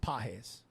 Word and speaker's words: Pages: is Andy PES it's spelled pages but it's pronounced PES all he does is hit dingers a hit